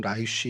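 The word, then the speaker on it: ליש: 그래서 라이스 성경에 이제 라이스라고 되어 있는데 뭐 히브리 발음으로는 라이쉬 이렇게 되는데 이게 사자란 뜻을 갖고 있고 그다음에 개역 개정 저희가 지금 쓰는 개역 개정엔 레셈이라고 이제 등장을 합니다.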